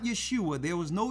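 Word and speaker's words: Yashaya: Yeshua. You got it? Yeshua. Yeshua. Yes, not I. That's Isaiah with an I sound. That's a different letter.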